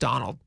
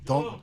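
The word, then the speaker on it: Domhnall: Dommel, it's spelled Dommel, but I think it's pronounced Donald.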